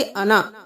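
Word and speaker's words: أنا: नून ज़बर अलिफ ना लेकिन हम नून के साथ जो अलिफ है उसको नहीं पढ़ेंगे। वो साइलेंट हो गया। हम पढ़ेंगे अना।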